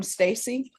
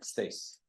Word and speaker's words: Stace: defense and are you Stacy yes Council I'm sorry Stace Stace ah thank you for letting